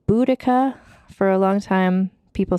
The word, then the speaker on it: Boudica: I'm going to pronounce her name Boudica because that is how I think it's said. Although some people pronounce it Boudica.